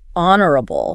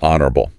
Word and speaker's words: honorable: What about having strong morals, honorable, honorable, honest, and fair. The video mentioned the silent H.